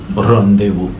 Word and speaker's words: rendezvous: ये जो आप ऊपर लिखा हुआ है RENDEZVOUS, इसको पढ़ने में कई बार गलती करते हैं। इसका एग्जैक्ट प्रोनाउंसिएशन होता है रोंदेवू।